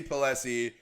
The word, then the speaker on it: Pelosi: preface is a little bit by saying Nancy Pelosi who is the speaker of what my sing her name wrong why are you laughing how do you